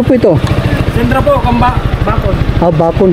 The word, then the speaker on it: Bacon: Bacon, hindi Bicon, Bacon na po. Bacon. Salamat. Bacon. Bacon pala, hindi Bicon.